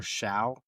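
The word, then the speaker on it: Shough: Tyler Tyler Sha. I mean, I just pronounced like so, isn't it? Like it's a I think it's so or Yeah. The H's are silent.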